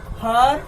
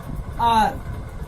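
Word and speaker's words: hour: H is silent in this word.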